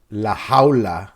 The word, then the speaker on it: La Jaula: So Bahamondes, Omar, how do you pronounce his nickname? La Jaula? La Jaula.